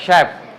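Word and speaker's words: chef: শালেট parachute parachute শ্যাপ chap বললে হইবো না চলে হবে না ক বললে হবে না শ্যাপ যারা রান্না করে বড় বড় রেস্টুরেন্টে যারা রান্না করে তাদেরকে বলে শ্যাপ ওকে মেশিন শ্যাম্পেন ব্রুশার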